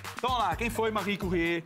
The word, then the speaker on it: Marie Curie: Olha porque pronúncia. Marie Curie.